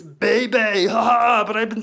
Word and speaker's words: Bebe: And Buccaneer BB is going to be a B beast, except her name's not BB. It's Bebe.